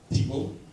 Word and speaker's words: Thibault: So I have Thibault. He is rapidly acquiring the nickname of T-Bone, because it is French and it's very hard for us to pronounce. And so my PA said, just remember T-Bone steak.